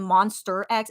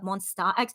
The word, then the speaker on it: Monsta X: rush hour they misspelled monsta x like you know how we always are like mad when people call them monster x instead of monsta x well guess what their